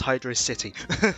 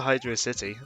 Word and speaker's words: Hydrocity: to the next level which is pronounced Hydro City I won't get into that discourse but answer the way you want but I think it's meant to be hydrously like he was intended to be hydrocity that's how I always